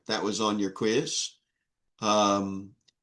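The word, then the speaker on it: πνεῦμα: Pneuma. It's pronounced with a kind of U.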